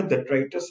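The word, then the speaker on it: detritus: इसके प्रोनाउंसिएशन में ध्यान दीजिएगा, डेट्राइटस होता है, तो वो सफिशियंट नहीं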